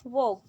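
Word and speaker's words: walk: जैसे कि first वॉक, इसमें L साइलेंट है।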